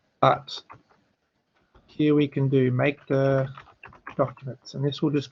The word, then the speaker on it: mkdir: The next command we're going to learn about is called makedir, which is short for make a directory, and the way that is spelled is mkdir.